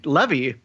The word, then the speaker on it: Levy: I think we did this, and it's Levy.